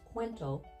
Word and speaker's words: Kuwento: it's fairly elegant and fun quento is actually pronounced quento and it simply means story in Filipino and